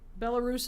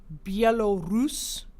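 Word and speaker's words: Belarus: its East is bellus bellarus is the lazy way to say it to say it properly you would say belus belus means white Russia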